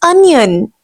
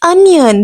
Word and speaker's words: onion: This is onion. The word is onion. We will have to give sound of A to O.